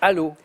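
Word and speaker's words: Allauch: Aquila, par exemple, ça s'écrit Alloche, A2L-A-U-C-H, mais ça se prononce Allo.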